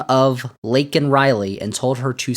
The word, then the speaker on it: Laken Riley: with the name of Laken Riley, and told her to say her name. And Joe Biden said Lincoln Riley, which is not technically correct, but I guess it's not as bad as flubbing Melania and Mercedes.